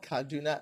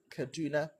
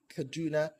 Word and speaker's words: Kaduna: Then Kaduna is not Kaduna. Rather, you say Kaduna, Kaduna.